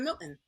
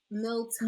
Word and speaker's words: Milton: I said Milton, right? And she's like, Ah. no, it's Milton.